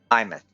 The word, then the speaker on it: Aemeath: Aemeath. It's pronounced Aemeath.